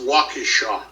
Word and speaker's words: Waukesha: It's pronounced Waukesha.